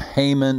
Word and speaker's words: Haman: had a right-hand man named haman that always rhymes with hangman which is appropriate because